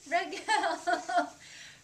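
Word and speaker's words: רגל: But really the Hebrew R sound is a little bit different. It's at the back of the throat.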